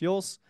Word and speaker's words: Joos: that's my full name if you ever wonder how to pronounce my last name it's yours I am an expert